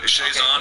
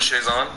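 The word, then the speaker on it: Chiasson: So, but Chazon, okay. That's the way you do it, Chazon.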